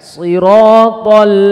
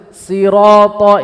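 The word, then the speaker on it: صراط: Jangan sampai dibaca sin loh Pak, ini nggak boleh loh. Antum bacanya seperti ini. Sirata ini salah. Yang kedua dibaca shin juga salah. Terkadang dibaca shiratal ladzi, nggak boleh.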